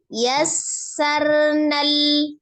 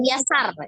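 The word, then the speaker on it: يسرنا: dikunkan dulu nah sementara sinnya ada asirnya Yar yassarnal rnya tawasul jadi jangan yasar jangan yasar bacanya ya yarnal wq wqarnal qurikakir eh Jangan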